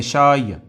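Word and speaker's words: شاي: چائے کو کہتے ہیں شائے. احب الشائے، پڑھتے اس کو اس طرح جیسے شائع کہتے ہیں نا شرمیلے کو، تو وہی اس کا تلفظ ہے، احب الشائع۔ ایک ہے،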